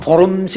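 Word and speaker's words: Worms: 그래서 저 유명한 1521년에 보름스 의회라고 여러분들 유명하게 들어보셨죠? 우리나라 말로는 이제는 영어로 얘기하면은 웜스성이라고 하는 발음이 되지만은 이게 독일 발음은 W가 이제 V자 발음이 되는가 보름스에서 그래서 의회가 소집이 되어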